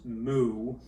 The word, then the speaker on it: mu: this ratio what are these things this is pronounced mu and this is pronounced sigma and they're both